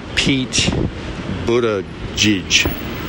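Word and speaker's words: Buttigieg: of South Bend Indiana peach Buddha judge that's my estimate of how to pronounce his name is his family's from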